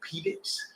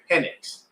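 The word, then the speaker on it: Penix: uh correcting the fan on how to pronounce his name because he was calling him Michael Pedix and he's like, "What did you say?" And he's like, "I said Phoenix." He said, "No, no, no. It's Pennix."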